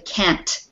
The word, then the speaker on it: can't: So be careful to really pronounce the T at the end of the can't word, just so it's clear, okay?